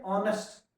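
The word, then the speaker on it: honest: क्योंकि यहां H silent है। अगर आप एच से पढ़ोगे तो ऑनेस्ट ऑनेस्ट पढ़ा जाएगा। मगर हम पढ़ते हैं ऑनेस्ट।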